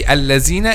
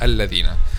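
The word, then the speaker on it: الذين: people a lot of students say allazine instead of al-ladhina but the correct pronunciation is so how to make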